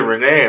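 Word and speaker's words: René: How do you pronounce it? Cafe de Renee, my name, dude.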